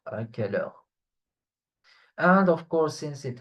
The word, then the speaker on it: à quelle heure: It's pronounced à quelle heure, à quelle heure.